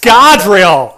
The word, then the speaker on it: Scadrial: It's pronounced Scadrial.